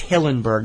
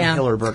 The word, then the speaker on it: Hillenburg: And I said his name wrong. I always do that. It's Hillenburg, not Hillerberg.